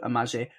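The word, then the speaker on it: Amahle: Travis walks up to amaje which yes I'm saying I know it's spelled with an L but she pronounced it with a J and I'm going with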